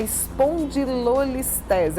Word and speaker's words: espondilolistese: bate papo aqui como ortopedista flávio malagone é espondilolistese é isso mesmo é do fla obrigado ter vindo muito obrigado um dia a pronúncia é essa mesmo efe luis tezza e